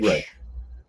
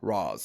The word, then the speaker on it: Ra's: Like Batman, it's always been Right. Raish. Always been Raish. First live action adaptation, Roz.